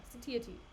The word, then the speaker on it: satiety: Pronunciation. satiety. Wait, satiate? Wait, no, satiety.